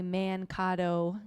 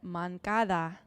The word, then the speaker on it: Moncada: And he's a guy I always want to say Mancado Chile had to um tell me it's Irving Moncada.